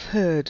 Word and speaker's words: herd: Beware of herd, a dreadful word that looks like beard and sounds like bird, and dead is said like bed, not bead.